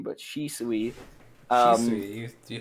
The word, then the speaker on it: Shisui: Um, Shisui, you said it right.